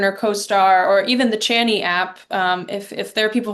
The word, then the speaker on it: Chani: go to Pattern or CoStar or even the Chani app? If there are people who are listening who are astrology people, Chani's another great, I love Chani Nicholas.